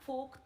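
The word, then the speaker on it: folk: यहां लिखो हरियाणा फोक थिएटर के जनक, हरियाणवी फोक थिएटर, फोक में एल साइलेंट है पता है ना, लोक होता है बेटा, ये लोक, लोकल जिसको बोलते हैं, फोक थिएटर के जनक अली बख्श।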